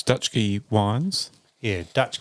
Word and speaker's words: Dutschke: still has the book available um so it's dutch G wines yeah Dutch G wines is all one